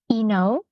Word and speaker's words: INOW: program even start with yeah so it's actually pronounced Eno uh so it's it's also yeah it's a